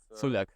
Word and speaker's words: Culjak: So as you spell it, that's how you pronounce it.